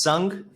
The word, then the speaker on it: Sung: My name is Sung, rhymes with lung, like the air you breathe.